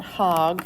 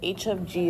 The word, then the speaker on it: h of g: It's not hog. I know it looks like it, but it's not. Of n. So how you say it is h of g of n.